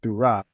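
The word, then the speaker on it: θύρα: This pronunciation of this word Thurah makes a U sound, not a W, not a Y.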